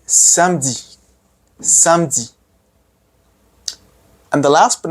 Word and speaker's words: samedi: Samedi. Don't say samedi, no. Say samedi.